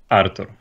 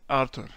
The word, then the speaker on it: Artur: little bit sharp, I guess, but might be a little bit hard for some people to pronounce. I think it's all right, though. My name is Artur. Artur.